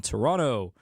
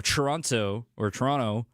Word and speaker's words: Toronto: I've learned that that's a way to identify yourself as an American whenever you say Toronto. When you actually say the T, they actually like ch.